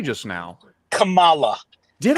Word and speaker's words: Kamala: We just heard Kamala Harris speak.